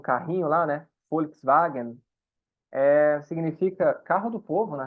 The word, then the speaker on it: Volkswagen: E a própria letra V também em alemão tem som de F. Então, por exemplo, o carrinho lá, né? Volkswagen, significa carro do povo, na real.